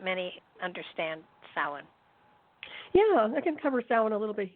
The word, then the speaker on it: Samhain: So for those of you who aren't really familiar with Samhain, it's it's a festival of the dead normally, and meaning summer's end, and pronounced Samhain, even though it doesn't look like it.